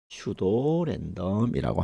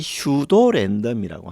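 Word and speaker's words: pseudorandom: 영어로는 추도랜덤이라고 합니다. P가 있는데 P는 무금이라서 발음이 되지 않습니다. 그래서이 슈도랜덤이라고 하는게 뭐냐 하면은 랜덤 값을 연속적으로 만들 때 사용되는 일종의 함수입니다.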